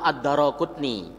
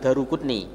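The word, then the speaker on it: Ad-Daraquthni: Hadis ini riwayat Al-Imam Ad-Daraqutni. Cara yang betul membaca nama harus Al-Imam Ad-Daraqutni, bukan Daruqutni.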